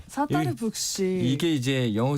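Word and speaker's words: Sattar Buksh: 여기는 사따르 북시. 사따르 북시. 이게 이제 영어 스펠링으로 말씀드리면 SATTAR, 그래서 사따르, 스타랑 좀 비슷하죠.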